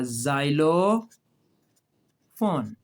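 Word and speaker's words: xylophone: अब इसको शुरू में एक्स है तो एक्स तो नहीं पढ़ेंगे ना? जे की आवाज़ देगा जाइलो फोन।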